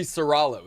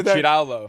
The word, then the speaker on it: Serrallo: That would be Serrallo. It is a typical New York Italian last name. That is so New York Italian. It's crazy. Yeah, it's great, especially at the bars when people ask how to pronounce it. Usually women, and I say, "Do you want it in English or Italian?" You then I say Cirallo.